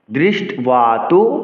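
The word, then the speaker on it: দৃষ্ট্বা: মত উচ্চারণ করতে হবে অনেকেই বলেন ওয়া ওয়া উচ্চারণ করা যাবে না বফলাকে বফলার মত উচ্চারণ করতে হবে কেননা এই বটি অন্তস্থ এজন্য এটাকে বফলার মত উচ্চারণ করতে হবে বলতে হবে দৃষ্ট দৃষ্টতু পান্ডবাবানকম আট অক্ষর পরবর্তী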